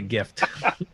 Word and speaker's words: GIF: say even action uh i pronounce a gift it's the correct way gift is correct it's a gift gift uh this this action